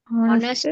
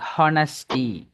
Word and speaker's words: honesty: Okay, சிலவங்க pronounce பண்ணும்போது அந்த ஹெச் சவுண்டை அழுத்தி ஹானஸ்டி அப்படி ப்ரொனவுன்ஸ் பண்ணுறாங்க. That's wrong. இதை ப்ரொனவுன்ஸ் பண்ண போக்கில் ஹவர் அண்ட் ஹெச் சவுண்டை ப்ரொனவுன்ஸ் பண்ணாங்க. It's wrong. Honourable and H sound pronounce பண்ணுறாங்க. ராங். இப்படி வரக்கூடிய இந்த வேர்ட்ஸில் வரக்கூடிய ஹெச் சவுண்ட் வந்து சைலண்ட்.